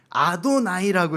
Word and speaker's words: 아도나이: 뭐라고 읽어야 되냐면 아도나이라고 읽어야 됩니다.